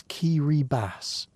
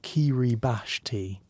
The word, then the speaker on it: Kiribati: And before you start practicing your pronunciation in your head, it's Kiri Bass, not Kiri Bashi.